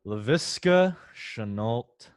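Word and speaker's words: Laviska Shenault: dynasty now one guy you're not fading mike pronounce his name for us because i love this name leviska chanult jr i mean noah put out arguably i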